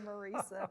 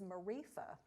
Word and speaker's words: Marisa: starts with M, but always appreciate when people do pronounce my name correctly, Marisa, but I get lots of things. I did tell Scooter Nance one time that my favorite mispronunciation of my name was Marifa.